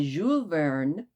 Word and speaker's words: Jules Verne: So, I think I can guarantee this is a twochapter night in 20,000 Leagues Under the Sea by Jeul Vern. I was told not to pronounce the S.